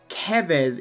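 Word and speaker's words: Keves: have the nation of kevez is what i'm going to be calling it as that aligns more with the japanese pronunciation based on the spelling of that so kevis is a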